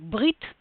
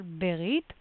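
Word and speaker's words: ברית: Modern Israeli pronunciation would be something like Brit. Very fast, like silent Sheva, Brit, but biblical Berit.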